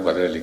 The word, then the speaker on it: Quadrelli: el rato de literatura, Quadrelli, ¿cómo se pronuncia? Bueno, es un apellido italiano, Quadrelli, con 2 L's.